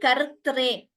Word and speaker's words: कर्त्रे: So Saundaryalahari kartre. So there we have a two ras, samyuktakshara. So we need to be careful while pronouncing that.